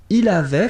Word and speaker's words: avait: Il avait, final T not pronounced.